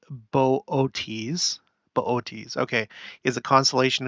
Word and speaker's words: Boötes: Okay, so it was there first, and then it went into this constellation, pronounced Boötes.